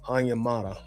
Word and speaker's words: Onyemata: And I finally figured out how to say his name, Onyemata.